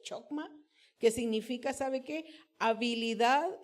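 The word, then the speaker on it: חכמה: En hebreo es la palabra, la voy a leer como la leo, creo que no se pronuncia así, pero es chokma, que significa, ¿sabe qué?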